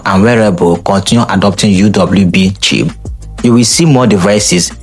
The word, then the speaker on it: Qi: The most common standard is a Qi pronounced at CH, which is supported by most modern smartphone, wireless airboard, and even electric toothbrushes.